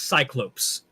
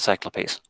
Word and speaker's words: cyclopes: like whatever pronounced i i've normally heard it as cyclops oh i've only ever said it cyclopes i don't think either one is incorrect neither do i think